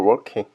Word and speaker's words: working: I was no longer working. I was no longer working. I was no longer working. Working. Wor킹.이 이 발음이 어 발음이 정확히 뭐지?